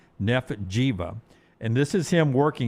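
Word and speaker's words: Giwa: His name is Nef Jiva. It's spelled G I W A but it's pronounced like Diva. Nef Jiva.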